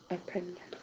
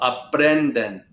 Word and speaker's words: aprenden: Aprenden. Aprenden. What is it, Andrew? Aprenden. Very good. Remember, put that stress on the second to last syllable. Aprenden.